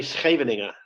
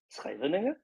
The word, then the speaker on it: Scheveningen: The Frisians pronounce it differently because we have a different melody to it. It's simple, and we don't do the this way. We do deeper.